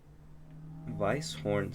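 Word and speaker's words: Weisshorn: Switzerland Vice horn Switzerland I know it's w but I think in that region of Europe that like the W's T might be pronounced with like a V sounding to like like an an English or American accent so Vice Vice horn Switzerland 40 wind speed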